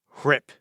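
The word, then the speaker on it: RHIP: It's pronounced hrip. The H is silent.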